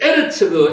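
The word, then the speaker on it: ארץ: 셋째 아르츠 에르츠 에르츠가 땅입니다. 땅 점이 두 개 이상 있는게 에라고 읽는 거죠.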